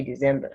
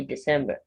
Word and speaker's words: December: The C in this word gives the sound, not Z. So don't say December, say December.